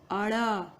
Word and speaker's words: ड़: इसका भी, इसको हम ड नहीं पढ़ेंगे बल्कि पढ़ेंगे अड़, अड़। ठीक है, इसमें नासिका का प्रयोग बिल्कुल नहीं होगा, अड़।